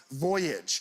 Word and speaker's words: Voyage: and the Word was Voyage Mr Gillette page 363 First Column first word please it's a noun or a verb it's journey by ship uh the accents on the first syllable it's Voyage yes that was good